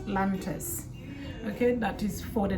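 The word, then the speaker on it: Lantus: been using it called lantas see lantas is spelled with uh L A N T us s lantis okay that is for the night this is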